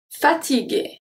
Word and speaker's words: fatigué: Fatigué. Fatigué. Here there is nothing really specific. It's just the G stay a hard G because we have the U after.